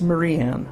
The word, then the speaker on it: Mariann: It's Mariann. Mariann.